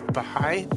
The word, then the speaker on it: Baháʼí: of the am I saying it right Dean behind Faith yeah that's perfect awesome awesome Dean's a member of the Baha'i faith um Dean I met you I mean